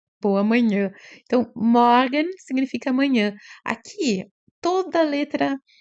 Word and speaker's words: Morgen: Um R misturado com A. Morgen. Né? Esse também a gente acostuma o ouvido ao decorrer, né, da aquisição do idioma. E aqui o G tem som de GU, né, pra gente, então fica Morgen.